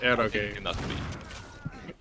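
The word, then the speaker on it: eroge: Yeah, it's pronounced Akage. You're going too hard on the accent.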